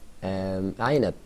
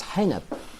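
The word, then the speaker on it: عنب: Okay, when I learn my little brother say this is aynab, grapes. Okay, which means in English grapes. Grapes. Okay. Yeah. Okay. He says it is hinab.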